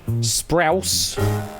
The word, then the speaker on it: Sprouse: rhymes with house. So sprouse.